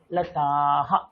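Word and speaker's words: लताः: সাথে বিসর্গ জুড়ে আছে তো বিসর্গের উচ্চারণ অলওয়েজ হ তাহলে কি হয়ে যাবে আহা আহা তাহলে কি লাতাহা লাতাহা লাতাহা পরিষ্কার এই জিনিসটা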